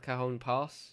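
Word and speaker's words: Cajon Pass: a kah or whatever like the J is silent anyway um yeah it's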